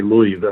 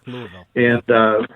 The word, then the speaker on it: Louisville: You don't say Louisville or anything strange like that. You got to say it like the locals do. Louisville.